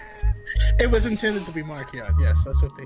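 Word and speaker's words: Marchion: I wonder you know, how Lula and Zine are gonna look next, or how Markion is. It's Markion. Watch the latest High Republic show. It's Markion. It was intended to be Markion.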